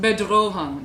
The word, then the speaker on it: Bedrohung: Miss Steele, what does bedrohung mean? It's pronounced bedrohung, darling. It means threat.